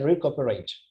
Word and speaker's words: recuperate: lubna begum is messaging c is pronounced as casa okay so you need to say re-cooperate okay good okay thank